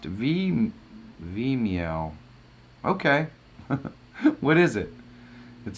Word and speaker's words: Vimeo: It is pronounced Vimeo.